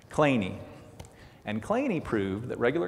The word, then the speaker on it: Kleene: 1951, Stephen Kleene, apparently that's how he pronounced it, though I would say clean, Kleene.